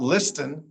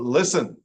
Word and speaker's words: listen: Sometimes the T doesn't say anything. It's just sitting there, as in fasten, not fasten, but fasten. Not listen, but listen.